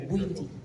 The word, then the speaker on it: Bwindi: And her work in Bwindi, it's pronounced Bwindi, right? Yeah, Bwindi, in Uganda, where she has actually saved gorillas there from going into extinction.